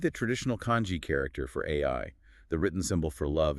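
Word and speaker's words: 愛: The Japanese concept of love is pronounced AI. Which is incredibly wild just on a phonetic level. The English letters AI, which stand for artificial intelligence, sound exactly like the Japanese word for love.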